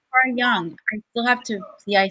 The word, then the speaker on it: Jung: it's pronounced Jungian okay it's Carl Jung so young don't have to yeah